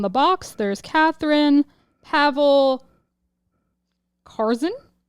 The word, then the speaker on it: Carson: Box there's Catherine Pavel Carson rhymes with Tarzan Yuri dunamis and Vera